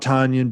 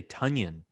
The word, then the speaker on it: Tonyan: a big one oh it's uh it's you're actually supposed to say tonyan doesn't yeah the news that came out yeah somehow uh the correct pronunciation he actually said this was tonyan interesting all right so